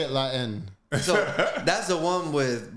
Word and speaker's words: La Haine: Wait, La Jaime?